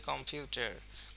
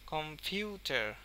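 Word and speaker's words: computer: উপরে এটা যদি আরেকটু ভালো করে বলা যায় কম্পিউটার কম্পিউটার কম্পিউটার তো এইগুলা কিন্তু এইযে কম এবং চার এটার উচ্চারণ কিন্তু একটু কম বাট এই ফিউ এর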